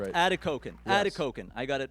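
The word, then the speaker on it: Atikokan: And uh when you lived up there in Atikoken, did I pronounce it correctly? Atkoken. Adakoken. That's right. Adakoken.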